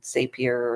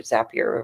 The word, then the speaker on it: Zapier: One of them that I've been using for a while is called Zapier or Zapier. It probably depends on who you talk to and how they pronounce it.